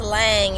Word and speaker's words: lam: deeply out and exhale pronounce lange l-a-n-g but spell lamb l-a-m let's do that seven